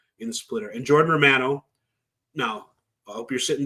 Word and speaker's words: Romano: He's a Canadian Italian, so it's Romano. It's not Romano.